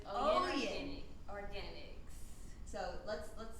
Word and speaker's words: Oyin: Tell us how you pronounce it. Oyin. So it's Oyin Oyin.